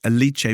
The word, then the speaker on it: Alice: she's Italian um and it looks like Alice raka but it's eliche V yeah perfect okay and